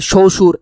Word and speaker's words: শ্বশুর: ব কই, বই তো গায়েব হয়ে গেছে, তাহলে শ্বশুর এটা। আর এখানে তো লেখা আছে একটা, কিন্তু আসলে উচ্চারণটা যদি আমরা লিখতে যাই তাহলে হবে এরকম শ্বশুর।